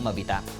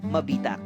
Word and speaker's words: Mabitac: ang pangalan ng bayan hirap ang mga Kastila na banggitin ang letrang G sa salitang mabitag na ang ibig sabihin ay patibong kaya't ang laging nabibigkas ay mabitak Nang lumaon Nakasanayan na